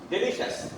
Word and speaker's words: delicious: Delicious, not delicious. Many people pronounce it as delicious. But this I is not pronounced.